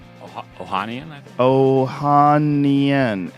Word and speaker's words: Ohanian: how do you say the last name oh Ohanian I Ohan o h a n i a n Ohanian I get that is must be Alex